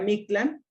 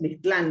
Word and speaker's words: Mictlan: Acuérdense que en náhuatl las palabras son graves, nada más que cuando las castellanizamos pues le ponemos el acento en la última sílaba, ¿no? Como en el español, pero en náhuatl sería Mictlán, y nosotros pues lo decimos Mictlán, ¿no?